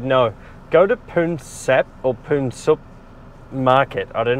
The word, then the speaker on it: Poonsap: Poonsap.